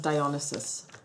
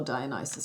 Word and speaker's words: Dionysus: And of course, you know, even the way he looks, he's modeled after Dionysus, or Dionysus, depending on how you want to pronounce it.